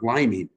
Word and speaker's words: liming: Great term, liming. I looked it up because I never heard it before. It's How do for you real. spell it? Like a lime, Liming.